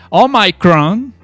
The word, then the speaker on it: Omicron: vara, pero por ejemplo, para nombrar la variante Omicron, ajá, de coronavirus, viera cómo se les ha hecho un mundo esto a los gringos para pronunciar la puta palabra. No pueden decir Omicron. Es Omicron.